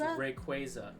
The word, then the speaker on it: Rayquaza: So the Pokemon Company officially announced what the correct way to pronounce this Pokemon's name is. How do you pronounce this Pokemon? Rayquaza? Or is it Rayquaza? They say it's Rayquaza? It's Rayquaza. Oh my god. Ain't no way. Official. It's official.